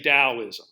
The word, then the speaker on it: Taoism: Oh, it is not pronounced the way it's spelled. I say it sometimes the way it's spelled just because that helps me remember how it's spelled. And it could actually be spelled in two ways. It could also be spelled with a D. So we like to say Taoism.